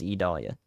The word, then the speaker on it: Idalia: code look up the go look up the official pronunciation from the World Meteorological organization it is idalia I know you want to americanize it but that's not going to help anybody right now what is millibar pressure